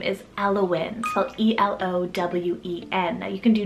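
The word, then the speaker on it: Elowen: from the mama because her daughter's name is alawin e-l-o-w-e-n now you can do w-y-n as well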